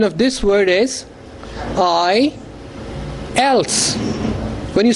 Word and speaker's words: IELTS: code they pronounce mispronounce the word the right pronunciation of this word is i else when you say l and if you begin